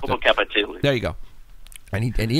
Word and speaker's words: Popocatépetl: I can't pronounce it. Popocatépetl.